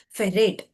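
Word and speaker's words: ferrate: So hexa and how Fe is written pronounced it is pronounced as ferate.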